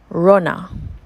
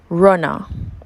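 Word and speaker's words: runna: people and places in Jamaican pwa this is pronounced Rona Runa the common spelling is is rner r u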